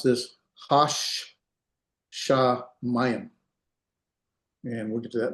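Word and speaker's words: השמים: You pronounce this hash sha mayim.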